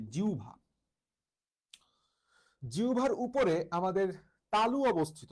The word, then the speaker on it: জিহ্বা: পেশিটার নাম হইতেছে জিহবা বা বাংলায় সঠিক উচ্চারণ বললেই জিউভা জিউভার উপরে আমাদের তালু